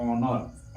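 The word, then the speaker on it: honour: चच साइलेंट होता है तो जैसे कि यहां प लिखा हुआ है एच ओ एन ओ यू आर तो इसको हम पढ़ते हैं ऑनर ऑनर मीस क्या होता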